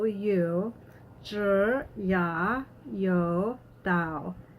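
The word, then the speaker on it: dao: you sure yeah yo Dow Dow is spelled T a o or sometimes it's spelled da o depending on which pinyin alphabet you're using have one hand in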